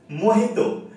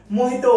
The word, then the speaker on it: Mojito: बात भी बताता हूँ, मोहितो जब लिखी जाती है तो उसकी स्पेलिंग में जे होता है, एच कहीं नहीं होता है। तो कुछ लोगों को लगता है कि जो मोहितो बोलते हैं वो गलत बोलते हैं, बट एक्चुअली मोहितो वर्ड जो जे के साथ